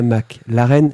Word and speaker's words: McLaren: Alors, pas McLaren, McLaren. McLaren. McLaren. Claren. Il faut bien prononcer.